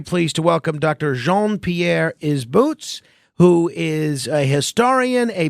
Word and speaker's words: Isbouts: That's Isbouts. Isbouts. Okay, exactly as it sounds.